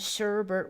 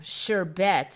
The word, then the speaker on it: sherbet: Bert originally came from but there's no R in even the original words so interesting and its closest cousin sorbet does not have an R there either on the second syllable so yeah Sherbert 70s